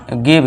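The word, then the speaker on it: give: इस तरह इसमें भी गिव। इसे क्या पढ़ेंगे? गिव। और ये लास्ट में जो इ है इसे हम नहीं पढ़ते हैं।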